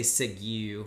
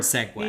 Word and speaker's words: segue: I always say Sigu when I'm reading. Because I never see the word segue.